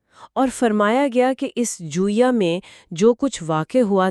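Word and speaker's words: جویہ: اور اہم اصطلاح ہے، اس کا تلفظ کیا ہے؟ جویا، جیم پر پیش، واو ساکن، یا ساکن اور آخر میں ہا، جویا۔ جوئیہ، ٹھیک ہے۔ تو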